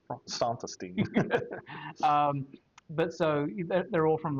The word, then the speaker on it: Santastein: Pronounced Santastein.